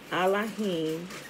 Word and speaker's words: Elohim: and undefiled piousness before allahim and the father is this remember allah is the proper pronunciation of elohim right remember there is no e in hebrew so when they when